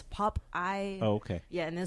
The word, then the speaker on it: Pop Aye: And I think it's only because in Thai language, it's instead of being pronounced Popeye, they pronounced it as Popeye.